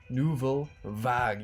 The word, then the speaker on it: Nouvelle Vague: but with a new wave and that is nouveau vag yes after a couple months our wonderful subscribers